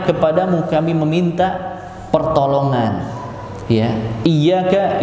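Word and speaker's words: إِيَّاكَ: Ya, iyyaka itu seperti ini bacanya, ya-nya harus tasydid. Ya-nya harus tasydid.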